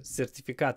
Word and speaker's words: certificate: of the course so certificate is a certificate certificate the stress is on the T but the is not pronounced with our full voice because it comes between two unvoiced consonants t if certificate at